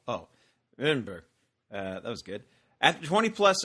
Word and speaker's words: Edinburgh: Greetings from Edinburgh, the city that's best pronounced by mumbling the second syllable. Oh, Edinburgh.